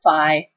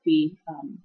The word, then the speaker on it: phi: Some people pronounce it phi. I pronounce it phi.